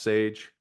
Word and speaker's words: $EJ: Once again, Sage spelled dollar sign EJ, pronounced Sage.